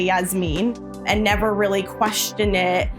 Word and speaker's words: Jasmine: I had a teacher in school who specifically said, in America, your name is pronounced Jasmine. We don't say Yasmin, and never really questioned it.